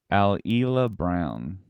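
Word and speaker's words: Alyla Browne: this actress's name is kind of hard to pronounce here it's alila brown nailed it she's a dual citizen of Australia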